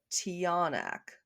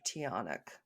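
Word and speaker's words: tiyanak: These ones are uh to the best of my knowledge pronounced the tionac or tionic.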